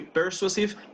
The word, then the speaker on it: persuasive: Más que persuasive, persuasive. That's the syllable with the biggest stress, but very good, very good.